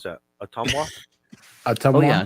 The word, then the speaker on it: Ottumwa: Yeah, how do you pronounce that? Ottumwa? Oh yeah, Ottumwa.